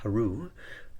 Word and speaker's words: Hrw: Egyptian hieroglyphs Horus was known as HRW pronounced Haru which means falcon ank